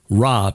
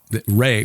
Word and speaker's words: Re: set yeah most of us have heard of raw but Ray was the way it was uh pronounced in ancient Egypt yes he was a